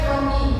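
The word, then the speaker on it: croquis: apa desain teknik atau kalau di Prancis namanya kroki tulisannya krok Prokis bacanya koki itu maksudnya konsum tubuh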